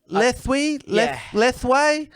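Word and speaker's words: lethwei: read that yeah that little with yeah with lethwee yeah man i didn't know how to pronounce it i don't know yeah it's uh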